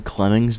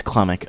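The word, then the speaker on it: Klimmek: Where's Clemmick? Wait, do I have to. Okay. Wait, what's his name? Have I been saying Clemmings this whole time? It's Clemmick.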